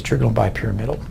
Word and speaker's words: trigonal bipyramidal: I've heard slightly different pronunciations, trigonal bipyramidal, but what you're going to hear me say is trigonal bipyramidal.